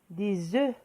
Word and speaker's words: œufs: Si on prend par exemple le nom œuf, un œuf, au pluriel, on dit des œufs. On ne prononce pas le F.